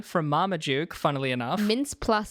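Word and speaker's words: Mintz-Plasse: Mama Duke funnily enough mince plus say it's spelled m-i-t-n-z mints Dash p-l-a-s-s-e so maybe it's plus it's like extra mints you got mince Plus there's also Matt Walsh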